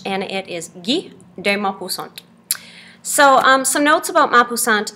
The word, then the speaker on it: Guy de Maupassant: If you look at the spelling of his name, you might think that it's Guy de Maupassant, something like that. But it is French, and it is Guy de Maupassant.